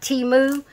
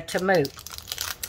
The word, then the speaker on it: Temu: them pronounce it differently some people emphasize the E like T moo and others doesn't emphasize the E they just say to move so however you pronounce